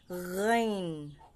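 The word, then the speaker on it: غ: lalamunan ain ain next Gin Gin sa pagbigkas nito ang dila sa may malapit sa lalamunan inaangat kailangan malinaw yung GH G at ang panghuli letter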